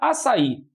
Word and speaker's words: açaí: Por exemplo, a palavra açaí. Temos aí a palavra açaí. É uma oxítona, última sílaba mais forte.